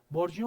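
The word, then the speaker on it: burgeon: लो नहीं पता तो बी यू आर जी ई ओ एन इसको प्रोनाउंस करते हैं बर्जियो इट्स अ फ्रेंच वर्ड तो उनका थोड़ा प्रोनंसिएशन अलग होता है बर्जियो मींस मतलब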